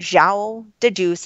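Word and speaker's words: João de Deus: and John of God like Showell de Deus is how you say it right in Brazil he he scraped this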